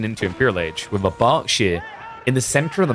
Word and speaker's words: Berkshire: And yeah, it's pronounced Berkshire. I'm a British person. Can authenticate. It's not the Berkshire or the Berkshire.